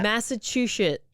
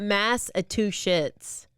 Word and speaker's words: Massachusetts: Massachusetts. Not two shits. Not mass a two shits.